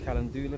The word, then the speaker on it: calendula: This is my calendula plant. So you How do you pronounce that again?